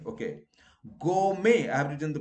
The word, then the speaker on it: gourmet: not silent wrongly people keep it silent okay go may average in the pronunciation you know french gourmet okay you go